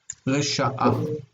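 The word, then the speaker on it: רִשְׁעָה: It's like it's rasha, but we've added the hey ending, okay, which pulls the accent to the end, and so the accent is here, which means that this is the near syllable, it's long, and this is the distant syllable, is short.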